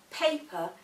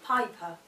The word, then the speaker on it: paper: A sound that can be mispronounced is the A sound, and quite often paper can sound like piper.